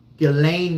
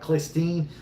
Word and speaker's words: Ghislaine: Ghislaine Maxwell. My wife gave me hell. So you were saying her name wrong before. You're calling it Christine.